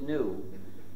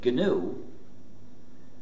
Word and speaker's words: GNU: of our operating system please do not follow the dictionary if you pronounce it new you will get people very confused you see we've been